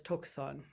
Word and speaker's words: Tokusan: Tungshang, also known as Tungshang Yangzhi, or in Japanese pronunciation of his characters, his Chinese characters, since the Chinese language, written language, was the first written language in Japan. He's known as Tokusan in Japanese.